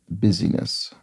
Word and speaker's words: busyness: Swedish busy representative so I pronounce that intentionally in a kind of overdone way because I was trying to draw attention to the fact that it's not the word business busyness represented oh a b a